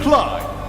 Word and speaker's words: Clide: Rhymes with Tide. GSL Clide.